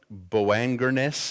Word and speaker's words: Boanerges: To them he gave the name," I've pronounced this so many different ways. It's actually a Aramaic word. Boanerges is probably the closest way to say that, which means sons of thunder.